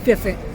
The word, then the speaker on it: firfir: fell in love with firfir. Which, okay, I'll try to say it the Ethiopian way. They say it like firfir, firfir, firfir. I can't do it.